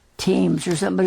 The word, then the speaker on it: Thames: That's spelled Thames. It sounds like Thames or something, but it's called... He says it right. He says it right. Thames, the river, the big river that we see.